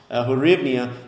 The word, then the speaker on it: hryvnia: I looked that up before this video, how to pronounce hryvnia.